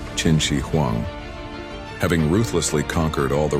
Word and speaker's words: Qin Shi Huang: However, the true unified purpose of the wall emerged with the arrival of the first emperor, Chin Shiuang, pronounced Chinshi Huang.